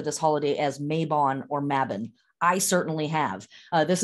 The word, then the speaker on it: Mabon: about the name of this holiday mavin it's pronounced here in america mabon a lot um mabin is the correct pronunciation and what we are